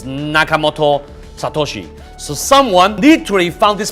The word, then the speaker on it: Nakamoto Satoshi: Japanese he says that you should pronounce it like backwards the last name first and then the first name so it's Nakamoto Satoshi so someone literally found this person he's living in u.s.